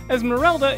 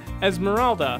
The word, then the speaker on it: Esmeralda: the entire first film he incorrectly calls his pet rat Esmeralda instead of Esmeralda number 9 six much